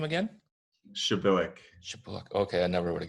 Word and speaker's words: Przybylak: Shabilik. Shoot, sorry. We use the Polish pronunciation, so. Got it. Wait, say that again. Say your name again. Shabilik.